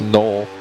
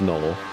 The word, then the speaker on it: Knoll: the way it's Seth another guy whose name gets mispronounced daily in in race as it seems It's null it is null it's just simply Noel k-n-o-l-l who else have